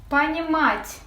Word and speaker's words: понимать: Понимать. Vurgu A'nın üzerinde. Sadece A'nın üzerinde biraz vurgulayacağız.